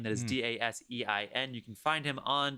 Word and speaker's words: Dasein: And the music that you hear is provided by the artist Dasein. That is Dasein.